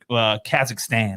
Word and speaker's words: Kazakhstan: so we're gonna go all the way to where Borat is from, Kazakhstan, right?